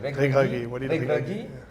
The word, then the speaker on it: Regragui: Now, Walid Regragui, how do you pronounce it? Regragui.